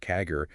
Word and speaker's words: CAGR: Clearly, from 2019 to 2024, revenue CAGR, that's compound annual growth rate, pronounced Kagger, hit 15% despite the 2023 dip.